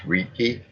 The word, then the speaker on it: Reiki: to study uh oh correct me on the pronunciation on this reiki uh Reiki yes Raiki okay uh yeah you